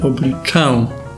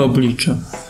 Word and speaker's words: oblicze: Zacznijmy od tego, że wymawia się oblicze, nie oblicze.